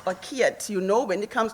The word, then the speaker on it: Kiet: Firstly, I would like to say thank you to Prof, the DVC, Prof Kit and the team, Kit or Kiet, you know, when it comes to pronunciation and Afrikaans, but I know it's Kit.